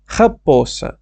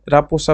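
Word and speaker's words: raposa: জিরাফা জিরাফা শিয়াল হচ্ছে খাবসা খাপসা হাপ্পসা র এর উচ্চারণটা অনেকটা ডিফারেন্ট আমি জানি চেষ্টা করবেন আমি যেভাবে করতেছি এভাবে করার না হলে সমস্যা নাই রাপোসা বলতে পারেন মানে একই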